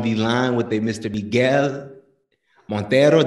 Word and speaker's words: Miguel Monteiro: Miguel Monteiro. Did I say it right? Yeah. You kind of sounded like Spanish, but yeah, it's cool.